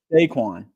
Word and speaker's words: Saquon: name saquin Barkley sequin yeah you got it saquin okay perfect you know Kurt I have to